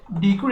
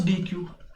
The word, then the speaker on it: deque: will be talking about dq data structure let me just write its name the uh dq data structure actually some pronounces as deck also uh this data